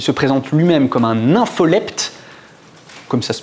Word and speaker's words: nympholepte: Il a essayé de mettre en place des stratégies de prédation, puisqu'il se présente lui-même comme un nympholepte, comme ça se prononce.